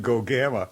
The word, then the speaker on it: Gogama: Oh, yeah, that's so Gogama. It doesn't matter how you pronounce it.